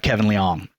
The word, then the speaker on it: Liang: We have Kevin Liang.